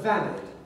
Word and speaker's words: valid: The word valid, for example, in Australian is pronounced valid. Valid. And indeed for Americans is often valid, so that it rhymes with salad.